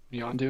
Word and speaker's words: Yondu: Yondu, his name rhymes with blue.